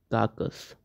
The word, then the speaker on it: carcass: इसकी स्पेलिंग होती है CARCASS। इसको बट हम रीड करते हैं काकस।